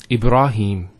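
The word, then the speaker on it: إبراهيم: of the a sound next word Ibrahim so here a rah notice here the raw fat ha followed by the Elif once again it's a a long vowel e brah no II bruh libera libera and then he Ibraheem he the Hat has a Kessler followed by the app so here is the elongation of the e sound its he he Ibrahim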